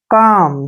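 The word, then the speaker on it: calm: को क पढ़ा है काम देखिए एल यहां पर साइलेंट है तो सी के बाद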